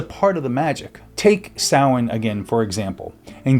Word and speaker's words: Samhain: In Gaelic, it's closer to Samhain. But when early books on witchcraft hit the shelves, a lot of readers who didn't know Gaelic sounded it out as Samhain. Over time, both pronunciations stuck.